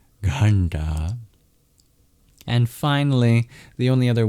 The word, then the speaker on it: ghanta: In this case, these dots indicate that these are retroflex, meaning you curl your tongue back to pronounce them, just like the R. And it's your bottom of the tongue that taps against the hard palate to make the sounds nta, nta in ghanta.